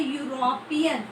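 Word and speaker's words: European: क्योंकि जब हम इस वर्ड को प्रोनाउंस करते हैं तो यहाँ पे बनता है यूरोपियन, क्या बनता है, यूरोपियन। साउंड किसकी आई, य की साउंड आई, य की, ठीक है, ई की साउंड नहीं आई, ई की साउंड नहीं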